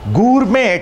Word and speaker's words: gourmet: के मीनिंग बताओ फटाफट गुरमे टी साइलेंट पहले बताया हुआ है